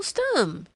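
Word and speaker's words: Stumm: grin why it's Colonel stum he cried he pronounced it like the first syllable in stomach very pleased to meet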